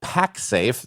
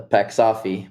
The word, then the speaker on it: PAXAFE: But at the end of the day, we get the French pronunciation, the PAXAFE, more than anything else.